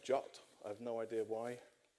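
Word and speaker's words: JWT: H Bank key just one one note it's pronounced jut I have no idea why you know I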